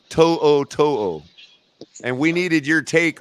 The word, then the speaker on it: To'o: So Wikipedia says it's pronounced To'o.